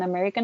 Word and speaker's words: America: And lastly, in America and Europe, we would say Americar and Europe.